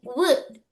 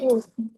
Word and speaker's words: would: pronunciation is would. Would. Wood. Yes, Wood.